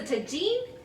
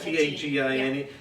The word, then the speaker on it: tagine: It's a tagine, and whatever recipe it is that you cook in the tagine.